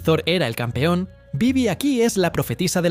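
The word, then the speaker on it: Badb: Y si pensabas que los nórdicos eran intensos, espera hasta que conozcas a Bibi, o mejor dicho, ¿no? La forma correcta de pronunciar su nombre sería Vivi o algo así.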